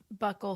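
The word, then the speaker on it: buccal: She got what's how do you pronounce it? Bul fat. Buckle fat. Buckle fat removal.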